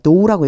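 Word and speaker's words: dough: until ited all the 여기에 GH 발음이 안 나요. 도우라고 읽어 주시면 돼요.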